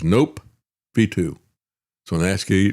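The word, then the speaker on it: nOPV2: they've come up with is called the N Ov2 pronounced that as nope v2.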